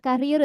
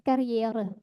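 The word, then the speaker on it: Karriere: bukan karier, tapi kariere.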